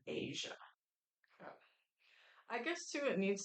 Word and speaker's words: Aja: of Asia so bad Asia it spelled like Aja but they say like the Redstone of Asia I guess too it